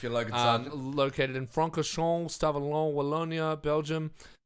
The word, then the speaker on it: Francorchamps: So, Circuit de Spa Francorchamps, I think is how it's pronounced.